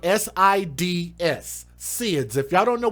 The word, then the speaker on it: SIDS: baby died of this thing called seeds which is spelled s-i-d-s sids if y'all don't know what sis is